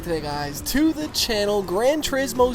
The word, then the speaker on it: Gran Turismo: Now, the biggest thing, I kept hearing Gran Turismo. I thought it was Gran Turismo, right? Not Turismo.